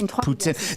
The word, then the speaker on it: Putin: of my life, say it's not pronounced Putin, it's Putin. That's what I say.